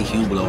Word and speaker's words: Hublot: And it says Hublot on it. That's how you spell it. It says Hublot. Mm-hmm. You don't say the T.